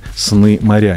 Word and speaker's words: Сны-Моря: Здесь сегодня «Сны моря». Не путайте ударения, пожалуйста. Название пишется через дефис. По правилам русского языка, мне кажется, легко догадаться, что ударение ставится на букву «Я».